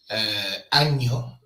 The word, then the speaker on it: año: So Ñ is the letter in the Spanish alphabet with an N with a squiggly bit on the top of it, and it's pronounced Ñ. So when you say año, year, you use the Ñ. Because if you don't use the Ñ, ano means anus.